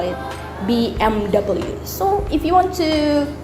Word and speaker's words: BMW: And then the last one here, some people here in Indonesia call it BMW, but also in America, because it's pronounced in American letters, so you call it BMW. But in Germany, you call it BMW. BMW. So the W in here, you pronounce it as V.